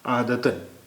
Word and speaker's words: عادتاً: اب یہ تے کے بعد الف دو زبر جڑ گیا تو اس کا اچارن ہو گیا، اس کا تلفظ ہو گیا عادتاً.